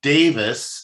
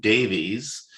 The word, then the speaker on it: Davies: about his name so davis is davis not davies um even though it's spelled that way that's a welsh thing um he has publications